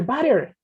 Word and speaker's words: butter: a teacher voter buddha no it's not buddha teacher butter okay fantastic can we